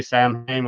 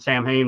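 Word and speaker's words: Samhain: Sam Hayne that's so I I think they would just pronounce it Sam Hayne most time to avoid confusion.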